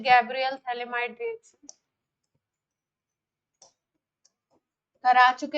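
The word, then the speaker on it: phthalimide: पूछ लेते हैं गैब्रियल थले माइड रिशन करा चुके हैं पहले मेथड ऑफ प्रिपरेशन सेकंड हां सेकंड मेथड ऑफ प्रिपरेशन है गैब्रियल थलीमा इड रिएक्शन थैली माइड में पी साइलेंट है स्पेशलिटी क्या क्या है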